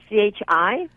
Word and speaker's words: qi: Yeah, the Mandarin way is QI. The Cantonese way, South China, is CHI. And it's pronounced the same way.